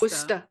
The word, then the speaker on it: Worcester: It's spelled Worcester. It's Worcester.